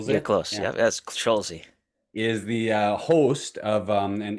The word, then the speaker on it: Scholze: Welcome, Scholze. Thank you, guys. Thanks for having me, Matt. Appreciate it. Yeah, absolutely. You guys, Schulze, am I pronouncing Scholze. Yep. Yep. You're Schulze? close. Yeah. Yep. That's Scholze.